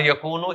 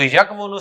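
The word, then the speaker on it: يَكُونُ: तो उसने क्या किया, उसने वाव की हरकत पीछे काफ को दे दी ना, और वाव को साकिन कर दिया और यकूनु इजीली प्रोनाउंस कर दिया। तो यकवुनु से उसने कहा यकूनु।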